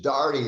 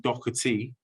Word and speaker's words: Daugherty: i was and it's darty it rhymes with party that's a good way